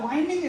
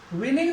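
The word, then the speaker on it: whining: इसके बाद देखिए then the वाइनिंग school boy, ये वाइनिंग है, विनिंग नहीं है, वाइनिंग, करेक्ट प्रोनाउंसिएशन की बात करें वाइनिंग है।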